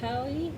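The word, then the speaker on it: paua: It's like a abalone, but I believe this one is, I can't even say it correctly, probably Pauli, P-A-U-A, or something to that effect. Pauli shell on a lovely silver brooch.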